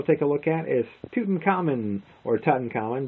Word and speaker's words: Tutankhamun: And the last game we'll take a look at is Tutankhamun, or Tutankhamun, depends on how you want to pronounce it. I believe it's Tutankhamun, although it's King Tut, whatever.